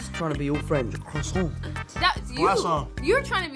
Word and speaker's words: croissant: this ongoing debate of how croissant is actually pronounced how does Tom Holland say croissant yes quaon I say it you do say qu it's a Quon but you do say it with a qu